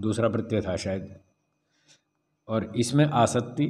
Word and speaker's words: असत्ति: ' असत्ती', हाँ, 'क' का उच्चारण न करें। यह 'असक्ति' नहीं है। यहां दो 't' हैं , एक दोहरा 't', 'asatti'।